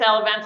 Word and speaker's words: Elevance: a public company is it I might be mispronouncing it is it elevance it's elevance Health that's correct y geez not bad so